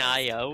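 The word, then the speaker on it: Nioh: Nio. I'm not sleeping Neo? in the It's camp pronounced Neo.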